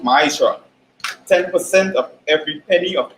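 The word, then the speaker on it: מעשר: each ten beams tense in the Hebrew and is pronounced my char 10% of every penny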